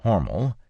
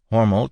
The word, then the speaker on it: Hormel: Horml. Homel being spelled H O R M- E-L like the company name, but pronounced to rhyme with normal in the Lichfield building on Mil Street in November 1891.